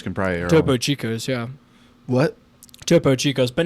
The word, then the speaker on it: Topo Chico: But um Yeah, but you have that like those top chicos can probably topo Chico.